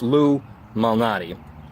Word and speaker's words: Lou Malnati: It's very simple to spell, but you gotta say it like you're saying Illuminati, because, well, it's so commonly cited, it must be said fast, like Illuminati, right?